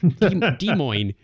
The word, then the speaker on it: Des Moines: Craig, you're going to have to learn how to spell Des Moines one of these days. What did I say? Oh, I was in a hurry. How'd I spell it? D-E-M-O-I-N-E. Oh, whatever. Des Moines. It's Des Moines.